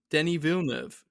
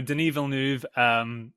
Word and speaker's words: Denis Villeneuve: The new Bond film has a director, Denis Villeneuve. Do you have thoughts on this? Denis Villeneuve. No, Oh, sorry, did I pronounce it wrong? no, Denis Villeneuve.